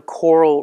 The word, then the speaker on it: COERLL: I thought this is how you would pronounce the acronym, like a coral reef in English.